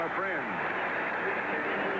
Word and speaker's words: Efren: of the afternoon Wow herrera's first name by the way is spelled e f r n and there have been a lot of questions asked about how you pronounce it it is good from a friend that's the way he says pronounce it 31 yd field goal